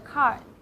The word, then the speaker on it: xī: We'll say like C, C.